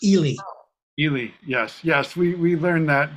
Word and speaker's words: Ely: The big one that people always get is Ely. Ely is not Eli. It's Ely. Ely. Yes. We learned that. Yeah. It's Charles up in was the Bishop of Ely in our Yeah.